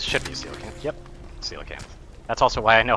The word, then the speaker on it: coelacanth: Yep, coelacanth. That's also why I know how to pronounce it.